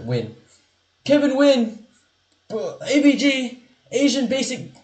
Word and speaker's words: Nguyen: That's how you say it in English, right? Win.